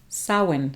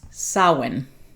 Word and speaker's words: Samhain: you can hear the way they say it's pronounced so in samhain sawin so looks like samhain pronounced sawin obviously i was completely off on that one